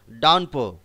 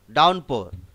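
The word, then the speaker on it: downpour: পি ও ইউ আর, ডাউনপো। উচ্চারণ করার সময় এখানে মনে রাখতে হবে পি ও ইউ আর পোর, এই আরের উচ্চারণটা সাইলেন্ট থাকে, ডাউনপো আরের উচ্চারণটা সাইলেন্ট থাকে কিন্তু লেখার সময় লিখতে হবে।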